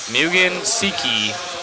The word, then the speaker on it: Mugen Seiki: be learning I'm watching so I can learn Mugen Seiki is the way that I was learning to pronounce it thank you Matt I appreciate you